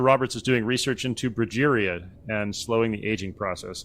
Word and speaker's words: progeria: She mispronounces it. She says perjuria. Like, you would think that Tony Scott would stop her and say, it's pronounced progeria.